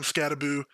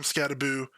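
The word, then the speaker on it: Skattebo: Um if you didn't see, uh Cam Scataboo, I don't know why you pronounce his name Scataboo. Uh there's not two O's. It should be Scatabo, but whatever.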